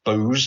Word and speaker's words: Boz: it is people nicknamed boz although apparently it's booze to rhyme with moses uh bis bez and